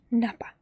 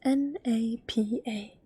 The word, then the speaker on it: napa: hips and your belly button in Finish is Napa that's an easy word I don't have it here version because I didn't find space for it but it's n a p a Napa belly button Napa and your butt is